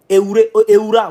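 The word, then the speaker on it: Ehoura: Mais comme Aouré, si je prononce bien, Eoura, voilà, merci.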